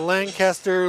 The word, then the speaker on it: Lancaster: Lancaster leading Beckham at the half, 24-13.